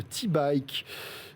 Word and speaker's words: Teebike: Et oui, Nice qui est le berceau de T-Bike. Et on en parle avec mon invité Laurent Durieux. Bonjour Laurent. Bonjour. Cofondateur donc de T-Bike. T, ça s'écrit T-E-E, attention.